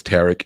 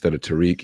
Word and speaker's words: Tariq: He says Tarek instead of Tariq.